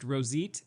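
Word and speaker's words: roseate: e a t what is it apparently it's pronounced rosit it's I'm glad you asked Daniel thank you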